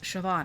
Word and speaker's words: Siobhan: Sioban Siobhan. It's pronounced Siobhan.